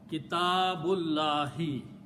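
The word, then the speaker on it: كتاب الله: And what we do not pronounce this alif in between, and ba will be combined with the lam. Okay, so it will become Kitabullahi. Okay, it will become Kitabullahi. Okay. So the final word will be equal to Kitabu and Allahi. Okay. Now what we are doing, we are not pronouncing this alif in between. The sound of alif goes away.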